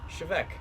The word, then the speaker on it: Té Bheag: I'm going to be doing a very quick review on Chivec. Now I know it doesn't look like it from the title on the bottle there, but it is in fact pronounced Chivec or Chevec, not teabag, as a lot of